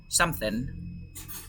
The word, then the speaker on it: something: Esta G no la pronuncias, okay? Something.